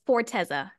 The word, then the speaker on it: Forteza: life for SL your name yes and then how do you pronounce and spell your last name it's forteza f o r t z a awesome so